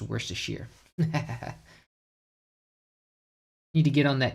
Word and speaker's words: Worcestershire: Oh yeah, it's like that thing where it's like Worcestershire, and it's literally like I got all those letters just to be pronounced Worcestershire.